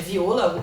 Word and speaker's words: Viola: Alguns falam Viola, mas geralmente é Viola a pronúncia, tá?